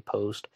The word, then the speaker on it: Post: Some people are pronouncing it Posty. I've also heard it pronounced Post, so I'll just keep going with that.